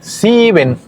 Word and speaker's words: sieben: Sieben. Sieben. Y aquí en sieben, la I con la E, va al revés. Aquí es IE, no EI. Es diferente a los demás ejemplos, a los demás números.